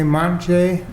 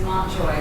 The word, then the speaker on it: Montjoy: And the first person is Montjay. Did I pronounce that right? No, it's okay. It's Montjoy. Nobody ever does.